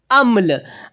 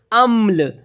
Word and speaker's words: अम्ल: आधा माँ है तो इसका उच्चारण हमने किया कुछ कम समय के लिए अम्ल। अब देखें, यहाँ पर है आ और पूरा माँ होता तो इसे पढ़ते अमल। अमल।